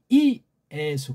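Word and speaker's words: Ἰησοῦ: 그래서 이거 발음할 때 예수가 아니에요. 이에수. 그렇게 발음해야 돼요.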